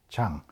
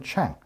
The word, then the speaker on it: Chang: So my actual name is Chang, as the correct pronunciation of my family name is Chang rather than Chang, so it's Chang.